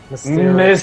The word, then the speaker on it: Mysterio: Mysterio. Mysterio, sorry. Mysterio. Say it right. Mysterio. It sounds like you're saying a stereo at the end. Mysterio. Like in the boombox on the shoulder.